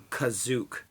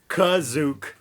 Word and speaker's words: Kashyyyk: even Star Wars Battlefront, Kashyyyk is under occupation, under Imperial occupation. In the holiday special, they call Kashyyyk Kazook. No joke. Kazook. Original. That's the original pronunciation.